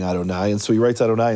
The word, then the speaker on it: Adonai: Because the tradition is when you see the letters Yud, Hey, Vav, Hey, you pronounce them as Adonai.